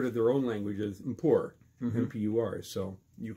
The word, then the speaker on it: Mpur: of yours the name of the language is poor and that's spelled mpur it's a tonal language in the